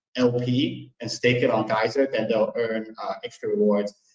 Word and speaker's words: GYSR: Basically, you stake liquidity on Uniswap, and you just basically stake the LP on something called Geyser. That's spelled GYSR.